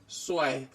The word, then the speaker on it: zwei: 2 इज स्वाय.